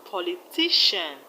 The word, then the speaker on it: politician: We have politician, electrician, technician. All of them have their stress on the second syllable from the end. In politician, we have the stress on ti. Politician. In electrician, we have the stress on tri.